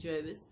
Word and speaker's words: Jervis: felt je RB is I asked the person in the shop how do you pronounce it he said Gervais okay cape jervis if